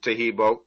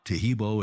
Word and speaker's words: Taheebo: mean uh just uh dip your hands in tahibo and it'll dry off in about a minute